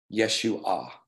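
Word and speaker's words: ישוע: of God so actually in Hebrew Yeshua is how you pronounce it uh so and in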